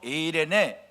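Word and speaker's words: εἰρήνη: 이 화평 이란 말을 히브리 말로 샬롬 이렇게 발음 하구요 헬라 말로 는요 에이레네 이렇게 발음을 합니다 그리고 이 샬롬 이이의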